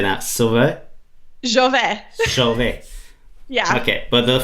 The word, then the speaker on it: Žove: Jove.